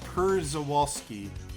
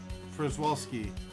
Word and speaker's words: Przewalski: You always pronounce it like pretzel. Pretzel Wild Horses it is. Yeah. Przewalski. Pretwalski or something.